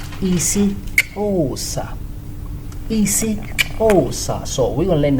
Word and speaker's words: isiXhosa: So if you have an X and H and O, means you have to click more harder. See? But if it's just XO, so you don't click so hard.